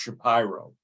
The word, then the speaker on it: Shapiro: a Shapiro or is actually in Philadelphia it's pronounced Shapiro okay bill yet I mean I think Jessica